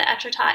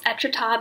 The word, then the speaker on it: Étretat: and I can't wait not me only knowing how to pronounce etrata because I know how to pronounce Wichita and they sound kind of the same anyways thanks Google for